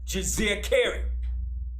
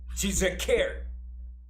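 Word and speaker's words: Djeserkare: And he had a throne name, which was Jizirkeri. I'll spell it. It's D-J-E-S-E-R-K-A-R-E. That is his throne name, Jizirkeri.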